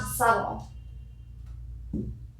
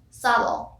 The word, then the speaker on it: subtle: ismas that's not a problem but mouse commonly pronounces isma's tied silent moving off subtle subtle and subtle the bait is oh and silent